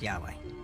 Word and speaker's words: Yahweh: knew God by his intimate personal name convention pronounced Yahweh passages with the name Yahweh which in German